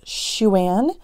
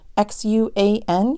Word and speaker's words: Xuan: So I'm not going to get it right still yet, but I think it's Xuan. X-U-A-N, Xuan. I even went online and Googled how to say it. I'm trying, but it's a Chinese name, so that's cool.